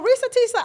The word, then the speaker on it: Reesa Teesa: clap I got it right Risa Tissa so Risa Tisa I think she's the young lady that had